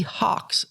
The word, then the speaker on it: Hox: example of this is the Hawks family of genes that's spelled h-o-x we talked a little